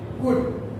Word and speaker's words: could: इसमें बहुत सारे स्टूडेंट्स को could भी बोल जाते हैं जो कि रॉन्ग प्रोनाउंसिएशन है। can, could, l साइलेंट हो जाएगा।